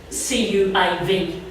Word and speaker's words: Caoimh: who aren't, for example, the name Caoimh, C-A-O-I-M-H, that's pronounced C-U-I-V. So the thing was, well, do we do CUIV or do we go with CAOIV?